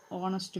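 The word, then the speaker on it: honest: ഹീ is dash ഓണസ്റ്റ് മാൻ. അതിൻ്റെ preposition option B ആണ്, ആൻ ആണ്. കാരണം എച്ച് ഉണ്ടെങ്കിൽ അത് സൈലൻ്റ് ആണ്, നമ്മളത് വായിക്കുന്നത് ഓണസ്റ്റ് എന്നാണ്.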